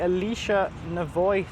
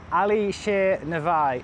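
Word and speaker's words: Alisher Navoi: It's called the Alicia Navoy Theater.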